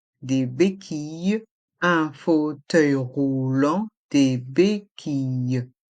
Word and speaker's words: béquilles: en roulant des béquilles dans le mot béquille il y a le son i avec les lettres i de l e des béquilles et le S de béquille est mué ainsi que le thé de roulant est mué des béquilles un fauteuil